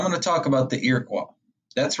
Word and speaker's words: Iroquois: Now, what's most famous about these settlements, and I'm going to talk about the Iroquois. That's right, it's not Iroquois, it's Iroquois, it's French. Oui, oui.